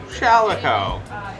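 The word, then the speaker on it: Shalaco: I spell my name Shalico, S-H-A-L-A-C-O, rhymes with calico, and I say it Shalico.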